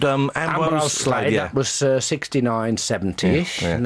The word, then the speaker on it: Ambrose Slade: And then we changed in 70, I think it was, into Slade, because everybody was getting the name wrong, calling us... At gigs called it Amgo Shed, Arnold Slade.